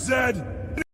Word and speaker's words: zed: THIS IS NOT FINISHED, ZED. ZED. This is not finished, Zed. Uh, so you can tell like you know I think Z the letter Z is pronounced zed in other countries.